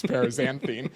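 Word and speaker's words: paraxanthine: I literally Googled one of those YouTube videos how to pronounce parazanthine because it's an X, not a Z.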